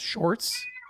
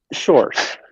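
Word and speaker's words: Sjors: RS and that's pronounced shorts shorts uh yeah it's like saying George with a very Dutch accent oh I got it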